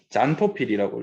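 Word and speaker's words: xanthophyll: 친구들이 누구냐면 카로티노이드라고 하거나 크산토필이라고 적기도 하고요. 어떤 토필? 어떤 책에서는 잔토필이라고 읽어.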